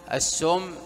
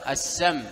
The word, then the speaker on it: السم: قال عليه الصلاة والسلام كما في الصحيحين: ومن تحسى سما، يعني السم، السم ينطق بالفتح وبالضم وبالكسر، السم، السم، السم، لكن الأفصح من حيث اللغة أن تفتح السم.